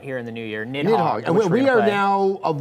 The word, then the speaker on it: Nidhogg: just came out here in the new year, Nidhogg. And we are now of one mind that this is Nidhogg in pronunciation.